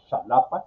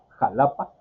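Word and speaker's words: Xalapa: No lo pronuncia, la mayoría de la gente no lo dice Shalapa, sino diría jalapa.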